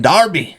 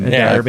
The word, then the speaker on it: derby: finally a a freaking Darby yeah I'm excited about this did I say it right Brent I mean Derby it's Derby it's Derby Darby a derby like Derby County yeah and I don't